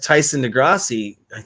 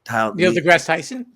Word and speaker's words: Neil deGrasse Tyson: That's the thing that Tyson DeGrassi, I hope I said that right. Neil deGrasse Tyson?